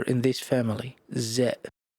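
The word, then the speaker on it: ز: Z is not pronounced like S. It's a voiced Z like in English. You need to feel the vibration in your teeth. Z.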